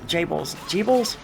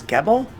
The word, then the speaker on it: Gebel: I would have just assumed it was Gebel. You know, just being an English speaker looking at the word, but they pronounce it like Jable, I think.